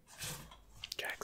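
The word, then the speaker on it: Jak: 2 by Naughty Dog Jack is how you say yeah right Jack Jack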